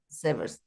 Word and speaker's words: severs: Not serves, yeah, severs.